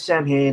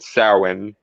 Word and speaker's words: Samhain: initially began as something called samhain which is spelled samhain because um because celtic spelling is weird um it translates to